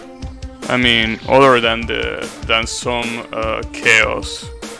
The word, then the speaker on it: Chao: I mean, other than some Chaos, right? And other than Chaos himself, right? Wait, those are actually not pronounced Chaos. It's pronounced Chao, right?